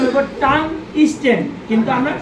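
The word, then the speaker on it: tungsten: চিনি এটা চিনি সবাই জি স্যার স্যার এটার উচ্চারণ হইবো টান স্টেন কিন্তু আমরা টান স্টিল টান স্টিল করি কিন্তু টান স্টে ঠিক আছে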